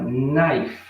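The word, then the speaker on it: knife: sua palavra em inglês a palavra naif tem canudo você não faz o som do k você fala direto com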